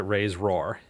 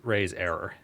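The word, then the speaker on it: RAISERROR: No, I'm not going to pronounce it raise roar. It's raise error.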